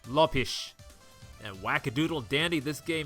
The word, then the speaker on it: Lopes: Lopez, or T. Lopes. Or if you want to be linguistically correct, it is pronounced Lopish.